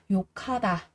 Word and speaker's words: 욕하다: Chúng ta có cờ gặp với hờ đây thì sẽ đọc thành là khờ. Ở đây mình sẽ đọc là yukata, yukata.